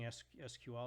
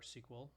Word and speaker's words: SQL: a up for grabs still a lot of people pronounce its sequel I personally like SQL but I think I'm losing the battle on that one so anyway this is